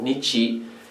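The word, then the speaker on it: 日: let's have a look at the sun so here is the kanji character for the sun and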